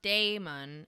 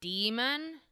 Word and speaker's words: Daemon: It looks like it's pronounced Daemon, and I pronounce it Daemon because it is so obviously written that way, but it is arguably pronounced demon.